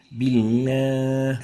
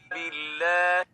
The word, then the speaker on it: بالله: بالله. And that's wrong. And the right way of pronouncing it is like this. بالله. Billah, not billah. That's wrong. Ghunna should not be associated with the lam.